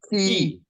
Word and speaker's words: chi: It's like Chi. German ich, or like Oh, the Chi word like Bach, Keyblade. the I got it. composer Bach. Like, He. sorry, Phi, Chi, Key. C. Probably the best thing to say is key. If you can't make it kind of like a fricative k, like key, Bach, key, Phi, Chi, C.